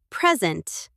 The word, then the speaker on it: present: As a noun or adjective, the stress is on the first syllable. Present. Here's a present for you. She was present at the meeting. But as a verb, the stress moves to the second syllable. Precent. I'm going to present my project. Present.